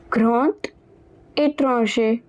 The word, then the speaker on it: grand étranger: So, over here the d, it will be pronounced as t. Grand étranger.